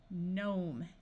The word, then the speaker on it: gnome: can add suffixes wrongly if you start a word with G and N the G will be silent so this sound is n nnat Nash nashing gnome a r says R